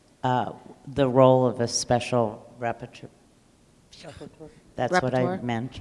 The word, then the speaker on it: rapporteur: role of a special rapporteur? That's what I Rapporteur? meant, yes. Rapporteur? I did say it right, rapporteur. Yeah.